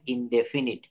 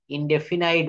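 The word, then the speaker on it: indefinite: present ইনডেফিনিট tense present ইনডেফিনিট ইনডেফিনাইট বলবেন না আপনারা এটা প্রত্যেকের মোবাইলে ডিকশনারি নামানো আছে না ডিজিটাল যে অ্যাপস ওখানে দেখবেন ইনডেফিনিট ইনডেফিনিট আমরা অনেকে এক্সট্রা ভাবে একটু বাড়িয়ে বলি ইনডেফিনাইট আমরা কারেক্ট প্রোনাউন্সিয়েশন গুলো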